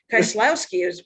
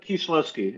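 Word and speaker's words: Kieślowski: Kieslowski is what I say. Kieslowski. Again, yeah. But Kieslowski would be how he would say it if he lived in Wisconsin in the 70s. He'd say Kieslowski.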